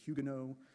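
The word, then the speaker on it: Huguenot: Sometimes you hear hugeno. Uh, it's ugeno in French, so you have to decide if you're going to pronounce that h or not to really make it worth the uh the pronunciation effort.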